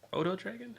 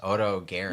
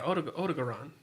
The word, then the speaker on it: Odogaron: Odo Dragon? How do you say it? Is O-D-O. Dragon. Dragon, yeah. That's why I call it Odo Dragon. Like, that's literally... No. It's Odo Garen. Yeah, Odogaron.